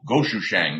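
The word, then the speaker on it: gochujang: condiment in korean cooking called goshu shang the korean hot pepper paste here's how you say it is it's a staple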